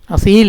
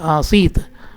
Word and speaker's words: ആസീത്: അപ്പം തസ്യോ ഉഷ്ണിക ആസീത്ത്, ആസീത്ത്, അസീൽ എന്നല്ല, ആസീത്ത്.